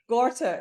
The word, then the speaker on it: Gorter: uh gter I don't know if I'm pronouncing your name correctly ger or gter G yeah gorter okay gorter uh so so delighted to